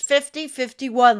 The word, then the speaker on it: 50501: It's hard to speak of 50501 pronounced 5051 like a normal activist organization.